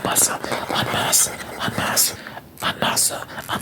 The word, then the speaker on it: en masse: having children, plus women entering the workforce and en masse, how do you pronounce pronounce that term, that phrase.